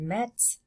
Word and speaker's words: mettent: Je mets, tu mets, il met, elle met, on met, nous mettons, vous mettez, ils mettent, elles mettent. And they really pronounce those T's there. Ils mettent, elles mettent.